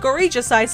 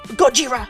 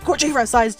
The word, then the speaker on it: Gojira: Complete with Gorija-sized screens hanging overhead. Completely- Gojira! Sorry, I should be saying it correctly. Gojira-sized screens hanging overhead, constantly showing advertisements for arcade games and industry happenings.